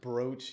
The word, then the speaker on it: brooch: It's pronounced brooch, even though it looks like brooch.